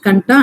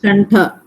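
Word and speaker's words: कण्ठ: AI is Kanta and Talu. Is it Kantha or Kanta? Kantha. Sorry, there's a typo there. It is Kantha Talu.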